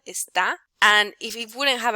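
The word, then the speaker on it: está: is showing you that the syllable with more accent with more with a strength in pronunciation is the last one esta and if it wouldn't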